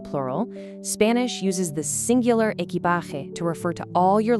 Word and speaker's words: equipaje: Equipaje, meaning luggage. The pronunciation here requires a really nice, breathy H sound for the letter J, equipaje.